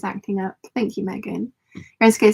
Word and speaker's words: Enschede: Nicole says, yep, you pronounce Enschede right.